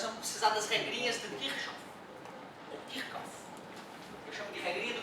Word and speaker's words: Kirchhoff: Eu falava Kirchhoff, boca cheia, quando estava dando aula há muito tempo. Aí fui para a faculdade fazer física, o PhD lá me falou que é Kirchhoff.